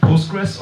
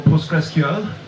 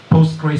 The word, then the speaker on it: PostgreSQL: you've already heard that it's called postgress or postgressql not post gray something but as Tom Lane